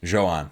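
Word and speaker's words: Jhoan: Joan.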